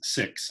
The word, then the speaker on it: Sikhs: the question was should Sikhs which I believe we today pronounce six I've been told whether they schools school